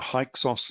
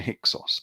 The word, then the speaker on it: Hyksos: This is the history of the Hyksos Exodus out of Egypt. The Americans tend to call them the Hyksos, but you can pronounce it either way.